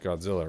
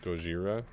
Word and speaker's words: Godzilla: it sound like cuz Godzilla is not supposed to be pronounced Godzilla right it's supposed to be pronounced like Gojira so then they had